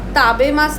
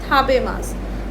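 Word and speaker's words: たべます: टू ईट बोलोगे तो आप ताबेमास नहीं बोलते, ताबेमास गलत है, हम लोग बोलते हैं थाबेमास।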